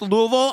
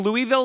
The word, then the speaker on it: Louisville: having done my show in Louisville it is pronounced Louisville and I really have Lear like I I was I was saying Louisville like everybody else for as long as I